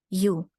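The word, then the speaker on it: ю: next group of letters you sir Russian letter you you as in unicycle so I have this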